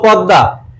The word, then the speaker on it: পদ্মা: এখানে কি হবে বলতো এই যে ম ফলা যার সঙ্গে থাকে সেই ম কিন্তু উচ্চারণ হয় না অনুচ্চারিত কিন্তু ম যার সঙ্গে থাকবে সেটা দৃত্ত উচ্চারণ হবে কয়বার দৃত্ত তাহলে কয়বার হবে দুইবার পদ দা হবে আর ম ফলা থাকলে